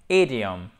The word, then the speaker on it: idiom: Et là, est-ce qu'on dit I ou est-ce qu'on dit A? Comment on fait? Donc, idiom, ok? Et là, vous voyez qu'on prononce le I, le D ensemble et pas le I tout seul.